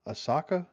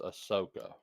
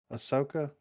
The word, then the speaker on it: Ahsoka: to go find um Asaka is that her name I believe it's pronounced Asoka Ahsoka um and she I